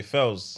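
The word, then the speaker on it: Pheelz: fouls the bad guy sounds like I p h i l L's so it's spelled p-h-e-e-l-z yeah what did I say Fells yeah yeah yeah that's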